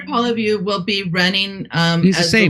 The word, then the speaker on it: Poilievre: Poliver? How do you say his name? Pierre Poilievre will be running as the leader for the federal conservatives.